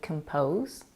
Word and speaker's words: compose: letters c m but do you hear the difference when I say complicated and composed they sound different do you hear how short the in composes this is because I'm reducing the vowel to schw again if you're confused